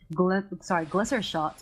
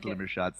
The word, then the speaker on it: Glimmer Shot: coming out from those glitter shots, as you were calling it earlier, and those one-shot, one-kill. Was it glitter shots? Yeah, glitter shot is a mispronunciation from a few championships ago.